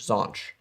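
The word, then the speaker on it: xonsh: shell is weird though glenn uses zanch so i can't even say it right x-o-n-s-h saunch thanks so much that's right is that the this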